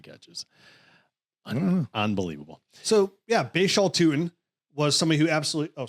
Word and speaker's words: Tuten: I had to make sure, I had to make sure the pronunciation. Oh, it's Tuten.